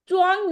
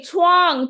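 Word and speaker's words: 床: Chichuan हाँ, Chichuan च्वांग नहीं है, छुआंग।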